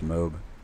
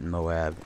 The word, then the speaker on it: MOAB: round for my first mob and yes I do pronounce it mob not Moab because first of all mob is one syllable shorter than Moab so I'm lazy I